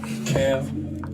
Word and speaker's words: Camb: - Camb. That is Camb, the B is silent.